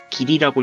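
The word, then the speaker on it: 義理: 그래서 이 의무랑 의리를 이제 일본어로는 기무, 길이라고 읽는데 이제 이 기무, 길이를 행하는 방식 중에 하나일 수 있다는 거야.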